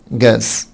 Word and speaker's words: gas: gas gas gas طبعا نخلي بالنا حبايبي هنا ان الاس بتنطق سه ساوند مش ز. gas gas crops crops يعني محاصيل.